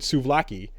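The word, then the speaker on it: souvlaki: a uh this is this is another language where v's and B's kind of come together because it's it's spelled out with suaki you know um so anyways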